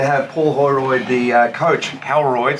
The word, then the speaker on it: Holroyd: Extremely lucky to have Paul Holroyd, the coach, Holroyd, say it right, of the Murrumbeena Football Club.